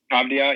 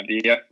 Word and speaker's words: Avdija: Avdija, yeah, Avdija.